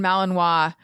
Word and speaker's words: Malinois: about like you should not own a Belgian Malinois um did I say it right yeah you